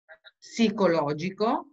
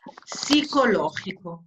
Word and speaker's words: psicológico: A ver, cuando encontramos palabras como psicológico, en español, la P no se lee. Psicológico, esa es la pronunciación. Psicológico, no se lee la P.